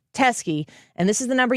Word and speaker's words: Teske: Her last name is spelled Teske, Jen Teskey.